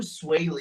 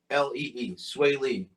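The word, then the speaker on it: Swae Lee: there's there's one um do you know who sway lee is swayley it doesn't ring a bell but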